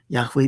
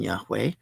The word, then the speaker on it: Yahweh: Uh sometimes pronounced Jehovah, but that's not correct.